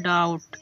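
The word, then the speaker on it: doubt: example के लिए जैसे लिखा है डी ओ यू वी टी तो देखो टी के पहले वी है इसलिए बी को साइलेंट कर दिया गया और इस प्रकार हो जाएगा डाउट क्या हो जाएगा डाउट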